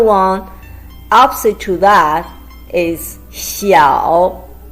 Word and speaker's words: 小: Opposite to that is 小. It's a combination of xi and yao with third tone.